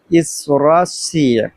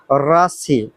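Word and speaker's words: России: রাশি আপনারা উচ্চারণ আবার রাশি বাংলাতে বলবেন না বাংলাতে যেরকম রাশি উচ্চারণটা লেখা আছে উচ্চারণটা আসলে রাশি হবে না উচ্চারণটা হবে রাসি উচ্চারণটা কি হবে রাসি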